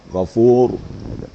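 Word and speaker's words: غفور: tafkhim atau getarannya tafkhim Walaupun dia sukun tadi gfur nah kan tebal gfur tapi kalau sebelumnya baris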